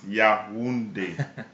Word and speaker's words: Yaoundé: in i lived in yaoundé capital Cameron so it's pronounced yeah windy there you go um